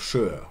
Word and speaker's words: sure: A word, ever ask yourself, sure, why isn't it spelled with a SH? Yes, because it comes from French sur.